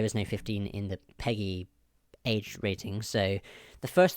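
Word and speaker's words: PEGI: it's peggy pg pgi yes peggy well they say they pronounce it peggy so you got 3 7 12 16 and 18.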